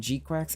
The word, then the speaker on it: GQuuuuuuX: The GQuuuuuuX, if anyone was curious how you pronounce GQuuuuuuX.